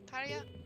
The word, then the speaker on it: Tarja: Is it Tarja? It's not pronounced with J. Tarja?